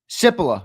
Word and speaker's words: Cipolla: Cipolla. All right. The C is pronounced like an S.